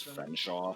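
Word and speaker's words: Featherstonehaugh: Featherstone Haw is pronounced as Fenshaw.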